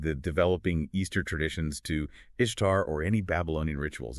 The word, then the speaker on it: Ishtar: Well, first, the pronunciation Ishtar, or Ishtar in Akkadian, is more like Ishpar.